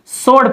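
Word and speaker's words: sword: इस तरह सोड, यहाँ देखिए इस डब्ल्यू को नहीं पढ़ते हैं, सोड पढ़ते हैं, SORD, डब्ल्यू को तलफ़ुज़ नहीं करते हैं, सोड सोड स्वॉर्ड नहीं पढ़ते हैं।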